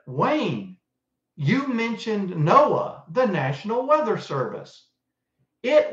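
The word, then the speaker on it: NOAA: Oceanic and Atmospheric Administration now it's not spelled like we would say but it's called Noah and that hearkens back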